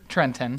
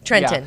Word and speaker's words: Trenton: How do you pronounce just it? you? Okay. But, no, it's Yeah. it's Trenton. Trenton, Yeah.